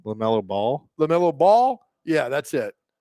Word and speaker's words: LaMelo Ball: LaMelo Ball.